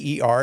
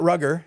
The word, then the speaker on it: Ruger: Ruger. It's not Rugger, as Big Gary likes to say.